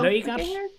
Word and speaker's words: Laugardalshöll: How do I pronounce Laugardalshöll? The way I just said it. There's no audio. Laugardalshöll.